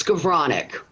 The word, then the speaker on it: Skowronek: It's Skowronek. It's Polish. The W is a V.